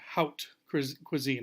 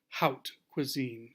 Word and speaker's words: haute cuisine: what we also call haute cuisine. I think that's how you're supposed to pronounce it, like the word out, haute cuisine. It's a French term.